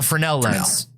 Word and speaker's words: Fresnel: Is that how you pronounce it? Yeah, a Fresnel lens.